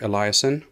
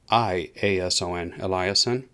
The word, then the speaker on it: Eliason: you see how the sites it says here eliason if i'm pronouncing it correctly correctly e-l-l-i-a-s-o-n eliason as it turns out eliason was the one